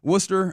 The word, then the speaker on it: Worcester: 22 years old, Marcelo was playing in uh Worcester. I don't know if is that how they say it? Yeah, Worcester um with their Red Soxa AAA.